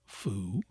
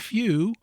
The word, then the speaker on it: few: New, pronounced as new, is an example, and few as in foo, and the true sounds are new and few, the U retaining its proper soft sound and not that of oo.